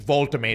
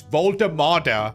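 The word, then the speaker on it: Woltemade: Also, I think I need to stop calling him Voltamade. It's Voltamada.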